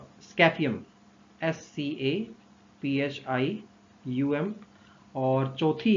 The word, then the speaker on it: Scaphium: है किसकी, चार स्मॉल बोन्स की, जिसको आप प्रोनाउंस कर सकते हैं, फर्स्ट तो ट्राइपस, TRIPUS, ट्राइपस, और इंटर कैलेरियम, और तीसरी है स्कैफियम, SCAPHIUM, और चौथी है क्लॉस्ट्रम, CLAUSTRUM।